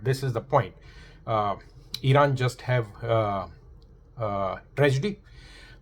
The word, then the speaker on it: Iran: Because most of the countries who do not like Iran they like to pronounce to say Iran. Why I ran away from there.